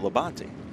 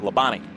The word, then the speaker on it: Labonte: And he said, well, we pronounce it Labonte, but all NASCAR fans and announcers call it Labonte.